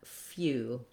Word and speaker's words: few: or in this case our letters EW, say the U sound. So we have a glide, a y, and an oo together, U or U. So looking at few.